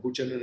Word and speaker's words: Buchanan: I think it was Mr. Buchanan, or Buchanan as he's pronounced, who famously said that if you look at public policy, you look at consent.